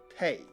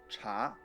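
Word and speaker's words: 茶: People there mostly speak Mandarin, in which the drink is pronounced cha.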